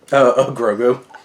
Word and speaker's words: Grogu: Grogu.